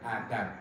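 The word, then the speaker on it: أدب: Sering ada yang tanya, Ustadz, ucapannya yang betul adab atau azab ya. Jadi yang ucapannya adab ya, dengan alif dal ba ya, adabun adab, yang artinya sama dengan etika ya.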